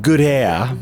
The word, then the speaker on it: Goodair: the good hair uh it's pronounced good a but yes that's that's